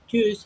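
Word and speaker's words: Tschüss: তা বুঝাচ্ছে কি চুজ চুজ হ্যাঁ মুখ ঠোট কিছুটা গোল করে ঠিক আছে চুজ হ্যা চু তো এইটা আপনাকে কিন্তু ভালোভাবে উচ্চারণ করতে হবে ওকে বিদায় দিয়ে দিচ্ছি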